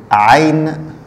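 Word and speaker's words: عين: La lettre suivante, c'est le ayn. Ayn. Ayn, ça s'écrit comme ça.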